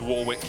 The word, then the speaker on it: Warwick: That's what I do with Warwick, even though it should be Warwick.